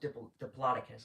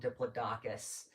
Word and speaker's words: Diplodocus: It's pronounced Diplodocus, although I remember I used to think it was called Diplodocus.